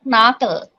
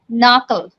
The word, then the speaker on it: knuckle: knob okay next is it's not a knuckle it's a knuckle knuckle knuckle okay next is